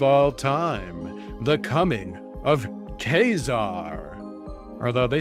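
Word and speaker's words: Ka-Zar: It's saying K-Sar, not Zar. I'm gonna let the AI know that it says Sar. The comic says I'm supposed to pronounce it as K-Sar.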